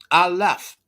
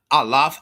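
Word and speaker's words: aleph: The first letter of the Hebrew alphabet is called alf, pronounced alaf, right? Alfaf. Not alaf. Alf, right? Alf. They call it simply alf.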